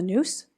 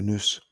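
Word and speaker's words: nous: which God can express itself as us the Noose yes the The Noose The Noose The Eye Of the Soul spell that n o u s oh okay I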